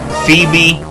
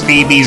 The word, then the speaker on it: Phoebe: That's how I believe that's how it's pronounced, Phoebe.